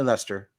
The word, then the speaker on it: Leicester: Yep, it's definitely Leicester.